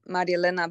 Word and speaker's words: Marielena: yes you are um it's actually marielena but many people cannot pronounce that but i figured that